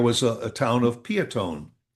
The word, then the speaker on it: Peotone: However, there's a fellow that lives there who's a historian. He says, "No, the town was named after a chief of the local tribe and his name was Chief Piotny." Yeah, that no one ever knew. Piotny. Piotny. But, the local farmers and everything and everybody just knew it as Peotone, Illinois. But, it if you wanted to be correct, it was Piotny.